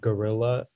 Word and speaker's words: guerrilla: Yeah, so the word is, there's only one pronunciation, it's just gorilla.